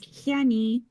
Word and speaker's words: Hiani: It was Hiani. Hiani. I think I just about got that.